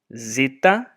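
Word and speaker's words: ζήτα: Then epsilon, epsilon, zeta, zeta, instead of the dz, dz, zeta, zeta is what it is in the Erasmian, but the modern pronunciation method I'm teaching you here, it's zeta. And then eta rather than eta.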